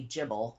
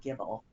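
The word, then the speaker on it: Gible: think it is um so you would probably say jibble how you pronounce it and I would say like Gibble what did you say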